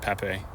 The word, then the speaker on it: Pape: And the other sort of surprises to me was it was Pape Madarsar, not Pap. But I mean, obviously you can kind of shorten it. I would see that, but he did pronounce it Pape.